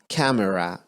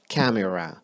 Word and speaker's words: camera: camera، camera اللفظ مالها مو كاميرا، camera.